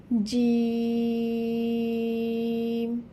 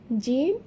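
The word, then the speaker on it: جيم: জিহবার মধ্যখান হইতে তার বরাবর উপরে তালুর সাথে লাগাইয়া জিম উচ্চারিত হবে। জিম, এবং এটি একটু শক্ত করে উচ্চারিত হবে।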